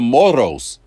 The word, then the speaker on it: moros: people in Mexico Mexico they call them the moros that's exactly how she said it because she